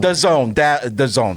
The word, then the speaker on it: DAZN: You had Dazin, the microphone said Dazin. I like when they get like the real announcers. Dazin or DAZN? DAZN, sorry. I've never known. It is DAZN. It is DAZN. I always say just pronounce it like I see it.